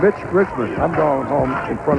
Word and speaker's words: Mitch Richmond: the press conference said his name has been butchered by more people in this tournament, including us. He's been called Rich Mitchman. Milt Richmond. Rich Milman and it's Mitch Richmond.